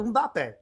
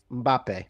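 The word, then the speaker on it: Mbappé: And the way to pronounce it is you take their big hit and say it like a Canadian.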